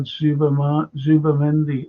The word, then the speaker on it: Zubimendi: You don't pronounce the Z like Z.